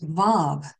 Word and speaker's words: Vav: The next letter, we'll get into each one of these, is Vav. V, we would pronounce it V-A-V, Vav.